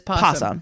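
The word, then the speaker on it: opossum: Uh, technically it's N O Possum, but nobody pronounces it possum. Everybody says Posum around these parts.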